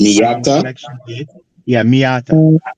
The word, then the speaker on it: Miata: Yeah, Miata. How do you spell that?